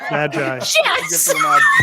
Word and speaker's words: Magi: That's how you know how to pronounce it. Magi.